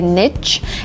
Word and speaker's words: niche: clean up the garbage the next word is Niche and I say Niche but really it's better to say Niche and Niche is more conservative more academic and this is the